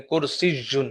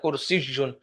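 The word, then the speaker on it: كرسيّ: یا بیڈ، کرسی، کرسی، دیکھیں کرسی جن، یا کے اوپر شد ہے، اس کا تلفظ ٹھیک پڑھنا ہے، کرسی جن، کرسی۔ مکتب، میز، باب، دروازہ،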